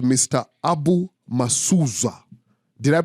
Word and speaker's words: Abu Musuuza: Abu Musuuza. Did I pronounce it correct? Mr. Abu Musuuza.